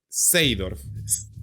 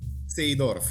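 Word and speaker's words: Seedorf: Seidorf. Seidorf.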